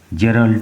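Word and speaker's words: Gerald: আজ আমরা পড়বো class nine lesson four a ডে ইন দা জু বাই জেরলড ডরাল।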